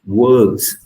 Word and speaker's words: words: say it doctor and wordss many of you missed the last letter s okay this is you